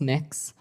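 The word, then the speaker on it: Mx.: It's pronounced mix. Mix?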